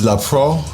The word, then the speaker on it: Leprous: But I really want to talk about this band called, I believe it's pronounced La Pro, but it's spelled like leprous, and they're from Norway,